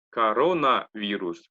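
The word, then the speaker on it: коронавирус: вирус почитается как раз корона вирус потому что корона на вторую о падает ударение поэтому читается как а остальное как а корона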